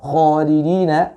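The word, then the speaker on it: خَالِدِينَ: Lalu kalimat khalidina fiha, khalidina, kha itu kurang terbaca dengan tebal ya, kurang terbaca dengan tafkhim, karena huruf kha ini adalah huruf isti'la ya.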